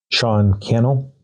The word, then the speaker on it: Cannell: Sean Cannell, rhymes with channel.